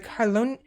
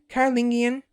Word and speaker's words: Carolingian: his dynasty the merovingian dynasty was eventually replaced by the carlone carolingian carolingian i can present i can pronounce it now carolingian dynasty under the nearly